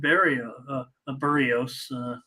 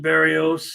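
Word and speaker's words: Berríos: Berrios. I should try to say it right. I have just always said Berrios, and I know it's Berrios.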